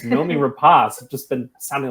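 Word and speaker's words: Noomi Rapace: obviously a24 it's it's such an a24 movie Nomi rapas I looked up her name that is the way you pronounce it I've been calling her numi Rapace for so long and it's Nomi rapas just been sounding like an idiot um but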